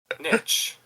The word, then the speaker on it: niche: Niche. Oh, it can be Niche.